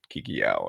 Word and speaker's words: Kikiyaon: I mean your spelling you're sounding it out phonetically so Kiki Kiki and then y-a-o-n Kiki Yao and so while I